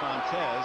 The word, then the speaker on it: Fontes: Interestingly, the younger brother, Johnny Fontes, actually the pronunciation, has taken over Lenny's spot as the defensive back coach here in Detroit.